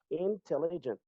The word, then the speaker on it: intelligent: So there's something we call the accent. Accent tonique là li sous deuxième syllabe. So intelligent. Intelligent. Intelligent. Intelligent. In, You comme si comme si tu dit N mot passé sous li rapide.